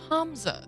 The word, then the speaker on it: Hamza: Signed, your benevolent benefactor, Hamza. What's Hamza? Is it a new kind of pizza? That's offensive. No. It's Hamza. The second H is implied. Different twist on the syllable.